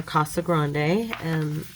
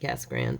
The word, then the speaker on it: Casa Grande: at Casa Grande, or Casa Grande, is the real way to say it. I'm Arizonan, so we kind of pronounce it Casa Grande, but yeah, it's It's a good church.